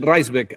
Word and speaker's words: Raisbeck: tenemos a Daniel Reisbeck, así se pronuncia Daniel, ¿correcto?